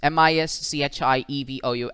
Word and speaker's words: mischievous: so we have miss m-i-s-c-h-i-e-v-o-u-s written in the phonetic form and this is one syllable this is the second syllable this is the third syllable and the pronunciation for this is mischievous the lecture that we